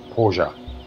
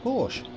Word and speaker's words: Porsche: Porsche is pronounced Porsche. Well, It's not pronounced yeah. Porsche. But it's got an E on the end, not an A in it.